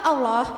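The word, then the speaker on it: الله: Lafaz Allah itu berada di awal kalimah sehingga dibaca tafhim. Pelafalannya itu seperti huruf O bukan A. Allah gitu ya.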